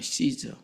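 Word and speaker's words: Caesar: 가이사는 우리가 읽는 걸로 말하면 시즈잖아요. 시즈 로마 황제를 시즈라 그러잖아요.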